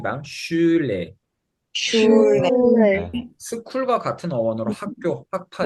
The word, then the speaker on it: Schule: Schule, 스쿨과 같은 어원으로 학교, 학파 이런 뜻이 되겠습니다.